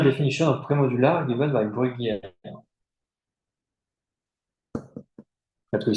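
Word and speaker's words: Bruguières: Bruguière. So Bruguière is a French, so this is a way to pronounce the name, Bruguière.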